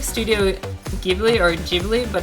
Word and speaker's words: Ghibli: And I like writing that paper made me realize how wrong I've been pronouncing Studio Ghibli. Like, it looks like Studio Ghibli or Ghibli, but it's Ghibli.